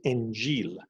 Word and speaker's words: Injil: I wanted to read the gospel, or in Farsi, in Arabic, they call it Injil. Now, Injil comes from, it's a Arabic version, Arabic pronunciation of the word evangel, the good news.